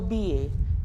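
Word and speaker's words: billet: ask one ticket rba the word ba means ticket not to be pronounced like be let or be lay no here double l will be silent so ba ba means ticket so client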